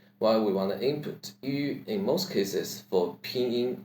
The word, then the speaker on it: ü: Yu is the first half of letter U's name. Yu, Yu, without U sound. The more practical way is shaping your mouth to U while saying E, E, E.